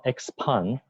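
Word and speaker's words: Xpeng: is their president Brian GU how do you pronounce the name of the company well it's called expand in you know song xx on okay and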